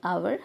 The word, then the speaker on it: hour: H is silent, hour, so an.